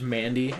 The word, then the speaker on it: Mandy: Her name's Mandy, actually. Man. Jill. Mandy. Man. God. Also because Mandy rhymes with handy.